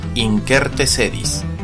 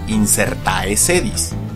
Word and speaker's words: incertae sedis: con nuestro listado inserte sedis también pronunciado como injértese dish pero nunca como inserte se dis ni como inserta ese dis proviene del latín como